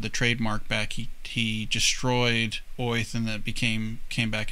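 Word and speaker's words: Oerth: that orth is actually pronounced as if you had a new york accent so earth is supposed to be oith oh interesting that's how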